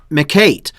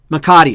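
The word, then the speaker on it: mecate: a bosale and mcca mccate uh can you recommend a good one how do you say that no it's mccain makati so a bazale and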